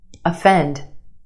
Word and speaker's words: offend: Off off. Put it in this word and it becomes u offend.